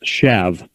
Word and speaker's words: shaft: On the very bottom is a side view of the shafts, and you call it SHAFT, but it's pronounced shav, like SHAV, shavs.